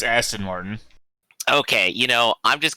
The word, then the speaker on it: Aston Martin: james bond and his austin martin and kit from knight rider i believe it's aston martin okay you know i'm